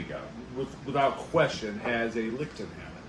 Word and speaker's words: Lichtenhainer: without question, has a Lichtenhainer. Lichtenhainer. Lichtenhainer? Hainer. Yes, it's so popular we know how to pronounce it too, even after crafting the style.